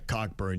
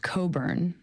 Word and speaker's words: Cockburn: Cockburn, you would think would be it.